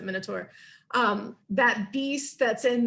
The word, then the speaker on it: Minotaur: with a um with a minur the Minotaur I don't know how yall pronounce it I pronounce it Minotaur um that beast that's